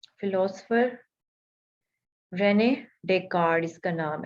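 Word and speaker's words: Descartes: Century का philosopher Renee डेकार्ड इसका नाम है, ठीक है। स्पेलिंग इसके डिस्कार्ड्स, लेकिन हमने इसको डिस्कार्ड्स नहीं पढ़ना, हमने इसको डेकार्ड पढ़ना है।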